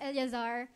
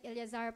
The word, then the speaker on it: Eleazar: Kasi iba yung word, bigkas sa Eleazar, E-A yun, Eleazar. Pag Eliezer.